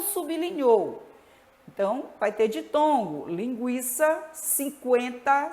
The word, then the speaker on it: Linguiça: Linguiça, não é dígrafo, o U é pronunciado.